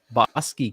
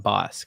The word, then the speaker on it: Bosque: Bosque County, Texas, not Bosque.